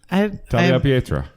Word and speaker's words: Tagliapietra: Tagliapietra. Tagliapietra. Tagliapietra. Right? Do you pronounce the G? No.